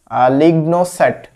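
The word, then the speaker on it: LignoSat: Leone লিওনোসেট আচ্ছা এটা হলো জাপান তৈরি করেছে লিগনো সেট লিগনো সেট হবে এটা আলাদা আলাদা ভাবে প্রোনাউন্স করলে লিগন সেট জাপান তৈরি করেছে আচ্ছা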